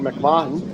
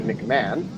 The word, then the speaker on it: McMahon: An interception return for a touchdown from Owen McMahon, who, in his pronunciation notes for his name, said it's not pronounced like WWE royalty McMahon, and I appreciate him